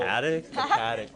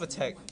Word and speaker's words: Patek: It's called Patek. Really? Yeah, Patek Philippe. Why is it called You're weird. Paddock? Cause it's spelled P-A-T.